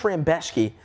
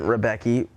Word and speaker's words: Rebecki: Mateusz Rambecki. Looks like Rebecki, of course. It isn't Rebecki.